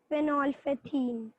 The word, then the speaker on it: phenolphthalein: Phenolphthalein. Yeah, it's phenolphthalein. L is silent.